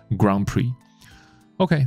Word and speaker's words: Grand Prix: 哈，那在迈阿密的那然后这个有一个词就是这个迈阿密的这个。这个就是那个 F1 赛车会有常常都有一个它的那个赛名，那它的发音叫做 Grand Prix，Grand Prix，那 Prix 不发音，所以你就念 Prix 就可以了，Grand Prix。OK，那有时候就会被说成 GP 啊，像我骑的摩托车叫 GP 125，就是 Grand Prix 125，当然跟